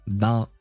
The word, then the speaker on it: bass: But yeah, then that damn d them that bass must bass bass bass bass. That's how you pronounce that word in this context because a bass is the fish, right?